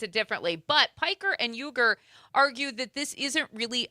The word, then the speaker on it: Uyghur: The correct pronunciation, I've seen it both ways. He is saying it's Uyghur.